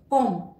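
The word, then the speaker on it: comme: सी के बाद ए आ रहा है, से के बाद आ रहा है, इसलिए इसका उच्चारण हो गया काइये, काइये। एक और एग्जाम्पल देखते हैं। कॉम, कॉम इसका मतलब है एज, सिंस।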